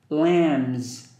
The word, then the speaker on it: lambs: farm Haystack sheepdog Lambs pay attention to the slider B it's silent it's like the comb we just mentioned one word it's very beginning do you remember that word it's comb letter B is silent poem and this one